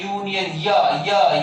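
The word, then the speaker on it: union: यूज किया है, लेकिन इसका हिंदी साउंड क्या है, यूनियन, यूनियन, यहाँ पे कॉन्सोनेंट का साउंड जनरेट होता है।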